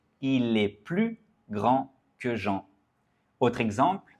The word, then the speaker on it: plus: Donc on ne prononce pas le S. Il est plus grand que Jean.